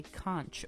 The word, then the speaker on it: conch: But the piercing itself is referred to as a conch with a ch.